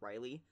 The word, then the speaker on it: Raleigh: her her s or her brother's name was Riley right except it was it was spelled the way that I would pronounce relay or or you know whever whever